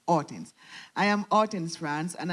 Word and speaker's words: Hortense: I am Hortense France, and I say it correctly, it's not Hortense, it's Hortense.